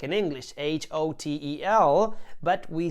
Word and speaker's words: hotel: herpes because in italian whenever we see a letter h we tend not to pronounce it for example we spell the word hotel just like in english h-o-t-e-l but we say it